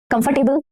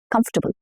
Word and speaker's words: comfortable: Next is this word. Comfortable? No, not comfortable. And this is not about accent. It's comfortable. Comfortable. Comfortable.